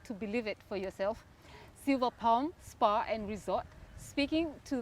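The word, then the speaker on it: Silver Palm: okay cool so we're here at uh the silva palm spa and resort is that how to say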